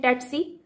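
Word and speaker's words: tsetse: सी सली ठीक है ये इसकी स्पेलिंग है टी एस आई टी ऐसी लेकिन इसकी प्रनंसीएशन देखें तो इसको कहते हैं टीईटी सी फ्लाइट ठीक है लेट्स सी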